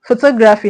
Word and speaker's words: photography: So photography has the stress on to because the word ends with phy.